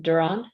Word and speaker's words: Duran: of okay very good is the pronunciation of your last name sir is it Duran yes ma'am okay so Duran